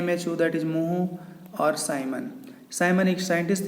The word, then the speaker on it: mho: The unit of G is ohm inverse, और the symbol of ओम is inverse, और इसको spelling हम उल्टी कर देते हैं MHO, दैट इज मोहो.